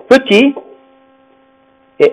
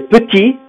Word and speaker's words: petite: imaginons ces deux mots petit et ami d'accord le T ne se prononce pas n'est-ce pas si on ajoute un e qu'est-ce qui se passe le T se prononce la lettre qui ne